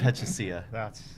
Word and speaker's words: Pachisia: Nitin Pechasia. Did I pronounce it right?